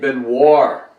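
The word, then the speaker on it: Benoir: he had been working with a guy named Ben War that's spelled b-e-n-o-i-r and he is a guitarist and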